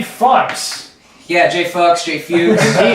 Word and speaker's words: Fuchs: I've been saying fucks.